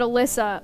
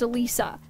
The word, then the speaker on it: Alysa: mad I'm so sorry I read the name Alysa and I thought I said Alyssa when it's actually pronounced Alisa maybe you should put